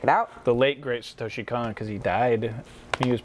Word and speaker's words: Satoshi Kon: Satoshi Kon. Satoshi Kon.